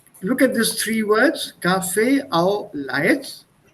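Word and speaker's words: café au lait: at this three words cafe au laits it's pronounced as one word and somebody was saying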